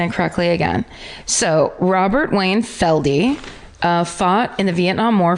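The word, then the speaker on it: Felde: His name is Wayne Robert Feld, pronounced Feldy. I couldn't know until I got to that part of the parentheses. F-E-L-D? F-E-L-D-E. Feldy.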